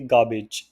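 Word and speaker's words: garbage: तो एक चीज़ मैं हमेशा बता दूं कि अपनी प्रोनाउंसिएशन में जब भी गार्बेज वर्ड है तो उसे, उसमें आपको आर वर्ड नहीं बोलना है, तो आप बोलेंगे गार्बेज। सो इसमें आर हमेशा साइलेंट होता है।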